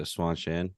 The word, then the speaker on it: Seanchan: It's basically if Jackie Chan had a son and named him Sean. that's literally how I'm pronouncing it. Yep, it's- Sean Chan.